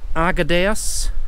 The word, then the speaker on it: Arguedas: get this right now, you pronounce the name of the village Arguedas, and these are Cuevas de Argedayas, which is obviously caves of Arguedas.